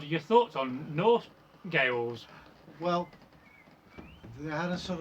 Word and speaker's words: Gaels: It's me not pronouncing it right with my terrible voice. Hang on a minute. Oh! Gales. Gales.